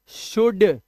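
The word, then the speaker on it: should: ठीक है ऐसे ही शुड अब ये एल साइलेंट है ध्यान रखना एल नहीं बोलना शुल्ड नहीं बोलना है शुड ठीक है जैसे कुड वैसे ही शुड ये लिखा शुड इसे शुड पढ़ते हैं स्पेलिंग देख लो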